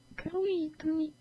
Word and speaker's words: Cruithne: How to pronounce Cruithne? That's exactly what I want. Cruithne.